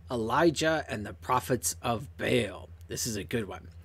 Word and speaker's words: Baal: worship her god named baal you gotta say it like that too baal okay jezebel killed god's